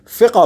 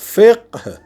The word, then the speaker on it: فقہ: فقہ استعمال ہوتا ہے۔ فقہ، فے قاف ہے، جسے عام طور پہ ہماری اردو زبان میں فقہ پڑھا جاتا ہے۔ یہ فقہ درست تلفظ نہیں ہے، صحیح تلفظ ہے فقہ، بالکل جیسے ہم کہتے